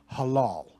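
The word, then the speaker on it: הלל: This is how it's pronounced. This is ancient Hebrew. Halal.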